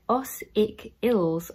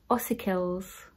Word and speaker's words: ossicles: so this is ossicles it's like icicles particle ready for Christmas guys so this is said like asik ills okay ossicles ossicles ossicles know i like articles